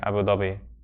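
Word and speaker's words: أبو ظبي: in English I mean we call it the pronunciation sometimes varies in English sometimes call abui often we hear Abu Dhabi but um even I even the people who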